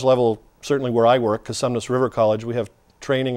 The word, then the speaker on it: Cosumnes: If you go to Cosumnes, it's not consumers. No N in there. Perfect. It's Cosumnes.